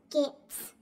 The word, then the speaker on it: Goetz: and go mother said you know how to pronounce that right it's g o e t z mother says is gets Al can be gets